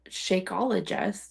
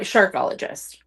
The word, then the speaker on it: Sharkologist: It's It rhymes with archaeologist.